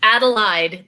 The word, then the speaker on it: Adelheid: your name correctly it's adolide the h is silent the h is silent allied okay and and the